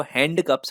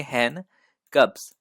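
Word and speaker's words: handcuffs: हैन और कफ्स इसका correct pronunciation है। कुछ लोग इसको हैंड कप्स पढ़ते हैं जो सही तरीका नहीं है। इसमें जो डी है इसको हम पढ़ते नहीं है, इसको हम सिर्फ पढ़ेंगे हैन कप्स।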